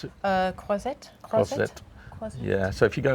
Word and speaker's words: Croisette: How do you pronounce it? Croisette.